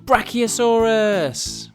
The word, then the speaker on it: Brachiosaurus: Let's learn all about Brachiosaurus. How do you say that again? Bra-ki-o-saurus.